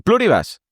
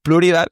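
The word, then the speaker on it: Pluribus: por un episodio de Pluribas o de Pluribas, es que se me hace raro llamarle así, que ahora que sé que se pronuncia Pluribal, bueno, pues Pack se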